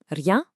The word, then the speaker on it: rien: Rien means nothing. Just roll the R slightly. Rien.